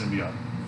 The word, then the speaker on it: symbiote: Symbiote. Symbiote. Not symbiote.